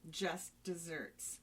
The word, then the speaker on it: just deserts: It actually refers to an older noun version of dessert, that is D-E-S-E-R-T, meaning deserved reward or punishment. But it is pronounced like dessert, D-E-S-S-E-R-T, which Wait a is, minute.